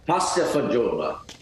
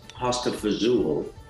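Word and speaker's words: pasta e fagioli: with us right now there are two different ways to say it that the italian way and the italian american way but can you tell us how to say it your way so pasta for joba is a pasta with beans parsley pasta for jewelry and somehow it ended up being known as hosta fazool in uh in in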